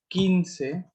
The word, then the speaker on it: quince: जैसे क्यू यू आई होता है तो हम उसको की पढ़ते हैं, एंड क्यू यू ई होता है उसको हम पढ़ते हैं के।